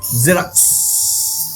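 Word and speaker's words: Xerox: জেরক্স, জেরক্স। এ দেখো, এই এক্স এর উচ্চারণ বর্গীর জ হয়ে গেল।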